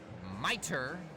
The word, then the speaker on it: Mitre: Eastern on I Heart Radio mitre pronounced mitre just in case you wondered the Turlock Express